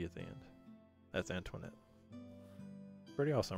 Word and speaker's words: Antoinette: Antoinette has a silent E at the end, so we just place a dot there.